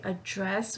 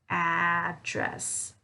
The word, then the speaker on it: address: adventure now for address typically we will say address when we are referring to like the verb address so for example we need to address this issue okay we need to address this issue here i'm using that schwa for that a vowel sound but uh when we are talking about like the location like the mailing address the location of a place here uh generally we'll use address address so what is